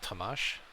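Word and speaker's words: Tomáš: always mispronounced his name it's definitely tommash and i think it's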